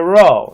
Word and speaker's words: rho: a p okay it's a row it's equal to our r like in roof randy ralph etc so it looks like a